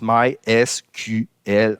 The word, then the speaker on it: MySQL: Puis, officiellement, MySQL, on le prononce MySQL en anglais, ce qui donne MySQL dans la phonétique française.